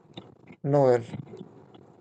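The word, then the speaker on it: Noël: First we have the example which is Noel, Noel. Noel. So if we are putting two dots, then the pronunciation is like no is separately pronounced, and then el Oh.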